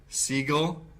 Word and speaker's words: Seagal: Seagal. He's Jewish. I don't know if he's Jewish, but that's how it's pronounced.